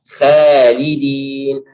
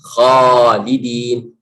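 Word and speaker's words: خالدين: Kalau khalidin, khalidin. Nah, salah. Harus bacanya khalidin, khalidin. Ya. Ingat selalu huruf kha itu dari tenggorokan.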